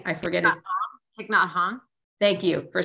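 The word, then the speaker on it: Thích Nhất Hạnh: I love, and I say his name wrong, but the beautiful Vietnamese Buddhist, meditation yogi, that he recently died, Thich Nhat Hanh. I forget. Thich Nhat Hanh.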